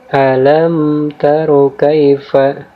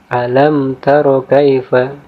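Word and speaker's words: أَلَمْ تَرَ كَيْفَ: Cara membacanya yaitu mim sukun di sini dibaca dengan cepat dan dibaca dengan jelas atau terang, tanpa samar-samar, tanpa mendengung, dan tanpa ditahan. Jadi dibaca alam taro kaifa, ya.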